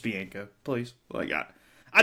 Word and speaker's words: Bianco: tournament every single interview continues to say Mike Bianca 19 seasons was I mean he's been told over and over and over and over again Bianca Bianca Bianca it's like dude it's just be inka please well I got